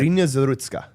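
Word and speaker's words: Iryna Zarutska: So, uh, Ireina Zarutska, is that how you pronounce it? Cuz that's how I've been pronouncing it. Arena Zarutska.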